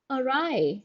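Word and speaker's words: awry: the next word is arai that's how we pronounce this word a and AR Twisted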